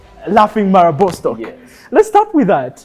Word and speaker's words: Laughing Marabou: can pronounce this right, the how do they pronounce that? The Laughing Marabou. Laughing Marabou.